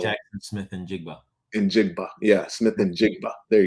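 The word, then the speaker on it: Njigba: say it's Middle Jackson Smith and jiga and jiga yeah Smith and jiga there you go thank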